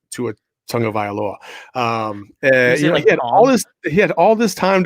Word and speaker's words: Tagovailoa: Like, hey, by the way, Roger Goodell, see how I pronounce that? That's how you say Tua Tagovailoa.